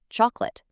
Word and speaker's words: chocolate: We write it out chocolate, but when we say it, it's just chocolate.